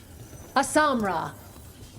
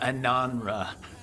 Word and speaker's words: ananra: Asamra. That's Kunlat for congratulations, right? You might want to try Ananra. You just said, we are doing you. I was saying it wrong all this time.